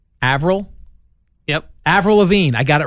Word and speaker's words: Avril Lavigne: I'm going to get her name wrong. Avril? Yep. Avril Lavigne.